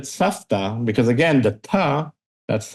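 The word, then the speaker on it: סבתא: Savta, grandma, is spelled as if it's supposed to be savta. But again, with the voice v, same, but we pronounce it safta because again, the ta,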